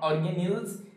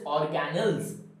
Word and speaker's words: organelles: about cell organelles cell organelles first get the pronunciation right it is not organelles it is not organelles it is organelles right o r g a n e double